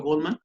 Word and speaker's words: Goleman: Primer tip, primera sugerencia, busca el libro de inteligencia emocional de Daniel, se escribe Goleman, yo lo pronuncio Goldman, y entonces Daniel Goleman